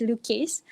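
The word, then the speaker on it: Loucase: lucky specifically you know just by pronouncing the name it's luke case so it was derived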